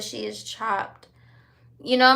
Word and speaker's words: Chopt: You said she is chopped. You know, my favorite salad restaurant is called Chopped, but it's spelled CHOPT.